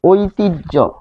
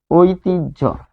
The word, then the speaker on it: ঐতিহ্য: যেমন অসহ্য যদি বলি, এখানে আমরা যদি বলি ঐতিহ্য, ঐতিহ্য, দেখুন দেখে তো মনে হচ্ছে হ, কিন্তু উচ্চারণ কি ঝ।